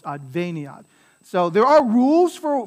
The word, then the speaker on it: adveniat: So every vowel is a syllable, so there are four syllables here, adveniat. And so it's because this I is short, that's why the accent is on the ve here. If the I were long, it would be adveniat, but because the I is short, it's adveniat.